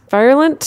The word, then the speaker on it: virulent: Virulent. It's like virile. No, not like virile. A virus. Like a virus.